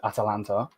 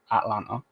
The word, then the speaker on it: Atalanta: They've got a massive game tomorrow versus Atalanta. I actually said it right this time, not Atlanta.